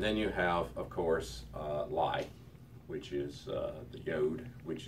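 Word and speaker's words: לִי: Notice the very slight I sound at the end of the H. It is lie. Okay. You're tempted to pronounce it as just la. And if you do, you can actually get by with it, because the pronunciation of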